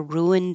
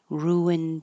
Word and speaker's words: ruined: But you will hear the D if there's a vowel after it. So, my plans were ruined on Sunday. Ruin dawn. Ruined dawn.